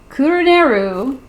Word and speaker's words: Kuruneru: This is Kuruneru, saying it right this time, his latest book, Fool's Wish.